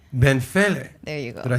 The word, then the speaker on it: Benfele: Benfele. Benfele. There you go. Did I say that right? You have that pronunciation.